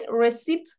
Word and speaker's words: recipe: Recipe پس ببین recipe نوشته میشه ولی recipe pronunciationش.